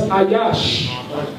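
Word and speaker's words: איש: For those of us that speak Lashon Kodash, Ish is pronounced Ayash.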